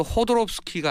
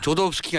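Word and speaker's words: Jodorowsky: 왜냐하면 영어식 발음이니까 H로 시작하니까. 알렉산더 호도롭스키가 아니고요. 조도롭스키거든요. 조도롭스키가 아니라 호도롭스키군요.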